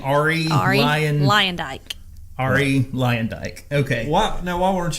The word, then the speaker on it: Arie Luyendyk: Okay, and that is how you say his name, Arie Luyendyk.